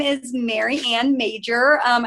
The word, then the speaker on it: Majcher: my name is Maryanne major um I know it doesn't look like that's how my last name is pronounced but it is um I am very